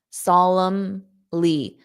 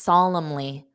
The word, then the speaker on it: solemnly: It ends on a an M, solemn, solemnly. So that N isn't pronounced, solemnly, solemnly, solemnly.